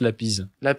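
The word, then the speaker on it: Lapize: Alors seul, Adrien, tu me redis pour la prononciation si il faut me reprendre, de Octave Lapide, Je pense Lapise. Ouais, un peu français de l'époque.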